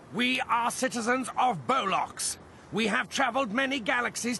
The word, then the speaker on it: Bollocks: here from the planet bollocks actually it's pronounced bolock oh okay you must